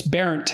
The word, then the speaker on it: Bernt: was parodied as burnt, because that's Bernt, that's how it's spelled. And so it was an object of mockery, but so I didn't look into it much. But it's Barent, and my great-grandfather, after